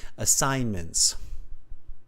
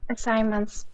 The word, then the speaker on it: assignments: don't pronounce that g assignments assignments good yeah that g is kind of almost a silent G in that word kanjay Eva otherwise very